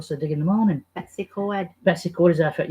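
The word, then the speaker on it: Betws-y-Coed: Betsy Coed. I call it Betsy Coed. Or Betsy Coed. No, Coed. Coed. Coed, like the Americans have in their showers, Coed We're showers.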